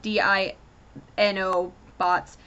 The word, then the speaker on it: Dinobots: Tennessee to stop the Dinobots and when he says Dino Bots it's spelled D i n o bots and Sun trigger stops him and goes no it's Dinobots Dy and they have this